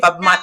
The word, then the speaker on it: Fatmata: I didn't do it justice for over 10 years, but it's It Fatmata. sounds exactly the way it looks. This is how it sounds. Phonetically, It's 3 phonetically. syllables. Fatmata.